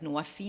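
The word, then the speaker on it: NWFE: In Egypt, ahead of COP27, we created our own country platform, the Nexus of Water, Food, and Energy, pronounced in Arabic as Nuwafi. Nuwafi means fulfilling pledges, because our COP was from pledges to implementation.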